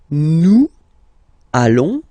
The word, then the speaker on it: nous allons: Then nous, so we, plural form, nous allons, okay, and if you, so final S not pronounced, and then if you are purist, and I'm sure you are, you want to make this beautiful and little liaison, so this little link between the words, so it does mean